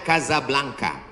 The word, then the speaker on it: Casablanca: Ibu kotanya tulisannya Casablanca. Cara bacanya Kazablanca.